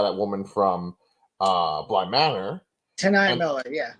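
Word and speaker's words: T'Nia: Tanaya And Miller, yeah. Tanai Miller, thank you.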